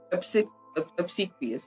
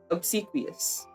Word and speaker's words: obsequious: Obsequious. I immediately forgot how to say that. Obsequious.